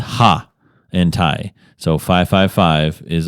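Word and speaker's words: ห้า: you've been to Thailand the number five is pronounced ha and Tha so 555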